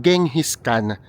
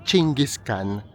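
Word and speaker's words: Genghis Khan: And then yung nasa pinakagitna nito ay si kapagka ini-spell siya guys it's genghiskan pero ang pronunciation niya yata ay chingiskan.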